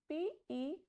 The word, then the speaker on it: petite: Next is PETITE. Petite. The meaning is small or short. So, when E is at the end, it has no pronunciation.